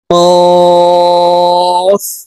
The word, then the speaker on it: ق: ফা ফা কফ। কফ হরফ জিহ্বার গোড়া তার বরাবর উপরের তালুর সঙ্গে লাগাইয়া উচ্চারণ করতে হবে।